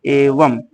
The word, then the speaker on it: एवं: संस्कृत शब्दों में जो हिंदी भाषा में प्रयुक्त होते हैं, अंतिम अनुस्वार का उच्चारण म के समान होता है, जैसे एवं एवं, ये पढ़ने में म जैसा आ रहा है।